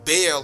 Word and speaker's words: Baal: It is no longer referred to as the temple of Bal or the temple of Baal for some of you who are North Americans hardcore pronunciation type people.